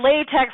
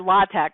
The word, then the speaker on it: LaTeX: you don't want to I never notice late tech or latex so I pop my apologies to anybody I'm mispronouncing it but look I know it's not latex like the gloves I mean I have but yeah I've also heard la tech right anyway under presentations